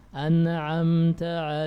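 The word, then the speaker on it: أنعمت: Ini sering kita baca ya, tapi banyak yang mengkalak-kalakkan nun. An'amta alaihim, an'am, ini keliru. Harusnya ditahan nunnya.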